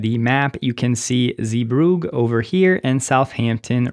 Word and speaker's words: Zeebrugge: And after the fact, I am now learning that the correct pronunciation is Zeebrugge, so apologies for the earlier pronunciation.